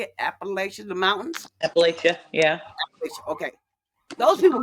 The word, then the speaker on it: Appalachia: that how you say it Appalachia the mountains Appalachia yeah Appalachia okay those people got really really